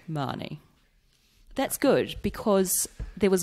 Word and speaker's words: Mahoney: It's Mahoney. Mahoney. That's good, because there was a boy at my primary school who pronounced it the same way, but I've heard it like Mahoney.